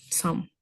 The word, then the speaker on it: some: Se pronuncia así some, sin la E, some.